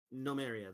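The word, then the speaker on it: Gnomaria: Oh no, it's like spelled like gnome and then area. Like Okay, so GNO. Okay. Nomaria.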